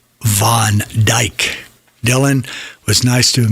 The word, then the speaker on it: Van Dijk: And I didn't want to screw it up, so I went to YouTube to see how it was pronounced. Van Dijk.